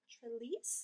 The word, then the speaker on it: Trelease: So Jim Trelease, I think is how you say his last name.